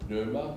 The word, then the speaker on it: pneuma: Le jeu de mots est grec, parce qu'en grec, le souffle se dit pneuma, ou pneuma, si vous prononcez à la française, qui a donné les